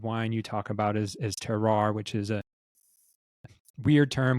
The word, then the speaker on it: terroir: But so it's a French term, terroir is generally how it's pronounced in English. The French say terroir.